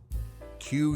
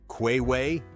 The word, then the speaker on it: queue: The other four letters are just waiting in the queue. They are silent.